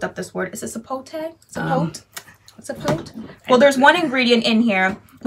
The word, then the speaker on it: sapote: Okay, so we pronounce it... Sapote.